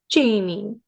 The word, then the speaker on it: Jami: First, um is your name pronounced Jamie? Yes.